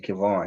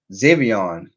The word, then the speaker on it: Xavion: I think I was saying Kevon. His name is Xavion. Yeah, Xavion Thomas, and obviously CJ Daniels. I was saying his name wrong.